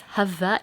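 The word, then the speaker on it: Hawaiʻi: so he explains how if you're saying it properly, apparently it's Hava with a V.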